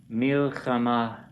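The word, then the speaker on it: מלחמה: Well, that's a hey at the end. Right. So that's why it's, it sounds more silent. It's an H sound. Milchama. I mean, if we make an H sound at the end of a word, it's real hard to hear. So, and often it can result in hardly not even hearing the hey.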